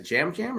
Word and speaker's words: Yam Yam: Is it Jam Jam or what is it? It's okay. It's because he pronounces it like Jam Jam. Oh, okay, all right. But it's spelled Yam Yam.